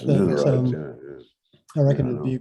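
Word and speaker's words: linarite: And linerite is one. Now, you say linerite, I think, Henk, but it's named after Linares in Spain. So there are things like that. Yeah, it's linerite.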